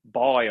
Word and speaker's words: buoy: They say it was a buoy or a buoy, as you Americans say, but it looked like it was almost moving.